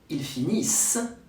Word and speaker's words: ils finissent: If you don't say the S sound like in il finit or il obéit, I understand he instead of they.